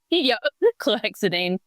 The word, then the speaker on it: chlorhexidine: going to Monash, having a shower in the chlorhexidine. Is that how you say it? Yeah, chlorhexidine.